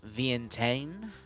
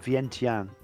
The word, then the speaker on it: Vientiane: the background here uh the battle of vientane am I pronouncing that right Rob uh vient uh t-i-a-n-e yeah I've always called it Vientiane Vientiane all right the